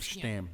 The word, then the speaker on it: Stam: Yep, Stam, because I think that's how you're supposed to say his name. Yep, Stam.